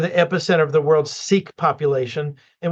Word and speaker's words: Sikh: It's loaded with Sikhs there, kind of the epicenter of the world's Sikh population. And when I say Sikh, it's S-I-K-H. That's how they spell it. It's pronounced Sikh.